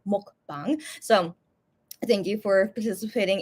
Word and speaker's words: mukbang: on this short mukbang sorry it's pronounced in Korean mukbang so thank you for